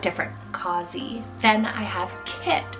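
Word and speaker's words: Kitt: Then I have Kit, spelled K-I-T-T, Kit.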